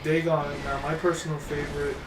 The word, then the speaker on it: Dagon: See, so like Dagon. Now, my personal favorite. Is it Dagon or Dagon? Dagon. Is It's it actually Dagon. Okay. I've always pronounced it as Dagon, I don't know why.